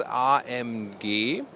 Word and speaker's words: AMG: we met say this RMG that would be the German pronunciation Mercedes AMG SLC 43